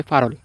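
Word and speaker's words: 팔월: ফারল আট নম্বর মাস এই ফাল বলতে গেলে যে রিউলটা আছে নিচে এই রিউলটা ইয়ং এর স্থানে চলে আসবে এজন্য উচ্চারণ হবে ফারল আট নম্বর মাস সামশিবি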